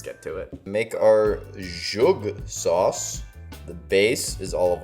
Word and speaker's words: zhug: In English, this source name is referred to as zhug. Zhug. Now, in Hebrew, the Hebrew pronunciation, how do you say it? Zhug.